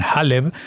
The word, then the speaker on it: Haleb: sino también en Alepo, que los judíos se llaman Haleb, al nombre que según lo pronuncian también los árabes.